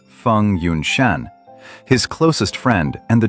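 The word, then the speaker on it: Feng Yunshan: Together with Fong Yun Shan, pronounced Fun Yun Shan, his closest friend and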